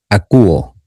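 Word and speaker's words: ἀκούω: Acúo. Recuerde que acá tenemos un diptongo ou y se pronuncia como acuo. Acuo.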